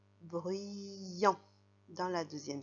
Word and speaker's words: bruyant: Et enfin, le mot en dessous, c'est la première syllabe B, R, U, ça ferait bru, et avec le Y, bruit, bruit. Et il tend son bras pour faire le son I, bruyant.